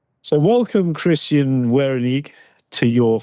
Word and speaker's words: Verhounig: you know, is it Verhoenig? Verhoenig. Verhoenig. Just change the Change the V to a W. Get rid of the U. And that's it. So, welcome, Christian Verhoenig, to your 5 Minutes for Good.